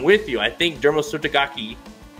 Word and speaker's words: Derma Sotogake: you I think dermal subtagaki I'm gonna say you gotta say it like that gaki is is actually legit like I think he's